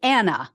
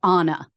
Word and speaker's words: Anna: and that she used the American pronunciation of Anna, like Anna, when they knew her. However, now she uses the Spanish pronunciation, so she would call herself Anna.